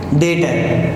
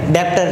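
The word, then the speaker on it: debtor: डेटर। डेप्टर नहीं है, डेटर। ठीक है? हम प्रोनाउंस करेंगे उसको, पढ़ने में डेप्टर लगता है पर हम प्रोनाउंस कैसे करेंगे उसको? डेटर्स।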